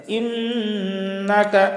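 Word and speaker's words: إنك: ইন্নাকা এই যে নুনের উপরে তাসদিদ আছে, ইন্নাকা এখানে গুন্না করতে হবে।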